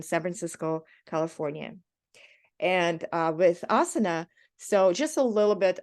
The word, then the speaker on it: Asana: out that it's neither in Sanskrit it's neither Asana no um Asana but it's actually Asana so it's more um of definitely more of a personal preference but but uh I guess standard American pronunciation is awesome so um and uh